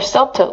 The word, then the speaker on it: subtle: Another subtle, 묵음이에요. B는 미묘한, 아주 미세한 미묘한 imbalance, 불균형을 초래합니다.